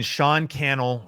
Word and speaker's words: Sean Cannell: I mean, Sean Cannell rhymes with YouTube channel, and that's Instagram would be my favorite place to kind of hang out social media wise.